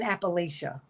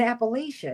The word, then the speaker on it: Appalachia: in really in in in Appalachia in Appalachia excuse me that's how they pronounce it it's pronoun it's been